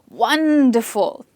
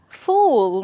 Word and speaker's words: wonderful: We're not saying fool, we're saying full. Which one sounded the most natural to you? To me, the first one is most natural, where we stress on the first syllable.